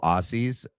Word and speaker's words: Aussies: We have a lot of cool Aussies. I was corrected. It's spelt with two S's, but you say it with two Z's. Aussies.